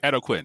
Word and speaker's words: Edo Quinn: So the short version is that it's a play on my name, right? Quinn, spelled phonetically. And the Edo is like a relation to, it's kind of an in-joke. Edo, like Ed, but also like the Edo period in Japan.